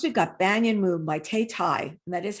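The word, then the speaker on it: Thao Thai: Next, we've got Banyan Moon by Tay Tai, and that is how you pronounce her name, Tay Tai.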